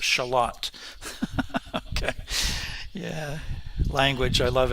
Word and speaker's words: Charlotte: A neighborhood of Rochester is called Charlotte, but pronounced Charlotte.